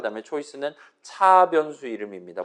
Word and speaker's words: char: 그 다음에 choice는 차 변수 이름입니다. 보통 저는 차라고 읽고 요 char은 일단은 캐릭터의 줄임말이라 봐주시면 좋겠어요.